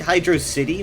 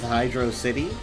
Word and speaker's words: Hydrocity: say hydrosity like velocity I think Hydro city is how it should be pronounced because hydrosity is not a term like it doesn't it doesn't mean anything hydrocity if it were to mean anything would mean a water City and that is where you are therefore I think it should be pronounced Hydro City thatone just says hydrosity